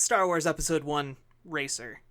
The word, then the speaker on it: Star Wars Episode I: Racer: you to know that there is a colle like a like a punctuation : in the name not you would just pronounce it Star Wars Episode one racer I just realized it